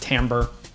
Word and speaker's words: timbre: It's spelled like timber, but it's pronounced timbre.